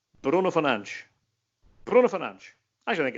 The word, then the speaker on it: Fernandes: And again, in Portugal, it's Bruno Fernandes. Bruno Fernandes.